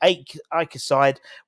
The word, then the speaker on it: AEK: But that's how you pronounce it properly, AEK and PAOK.